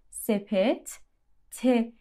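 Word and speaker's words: sepette: یومورتا سپ ته یومورتا سپت ته ت آخرش چون دو تا ت کنار همن کامل باید تلفظ بشه هر جفتش یعنی میگیم میگیم میگیم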